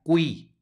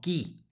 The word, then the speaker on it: cui: siguiente palabra con subrayado aquí vemos una q seguida de una u que si va a sonar la u por lo tanto se pronuncia cui no qui cui luego en la siguiente